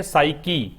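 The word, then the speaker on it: psyche: बाकी के जो वर्ड्स दे रखे हैं, साइकी, इसका जो प्रोनाउंसिएशन है वो साइकी है।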